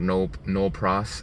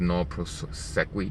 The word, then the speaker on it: nolle pros: It's called no pros. I thought it was no prosequi, but it's no pros.